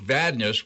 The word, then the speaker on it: Vadnais: And we have Coach Bob Pronovost, assistant coach Luke Vadnais, which is the correct pronunciation. Vadnais in hockey, but Vadnais in basketball.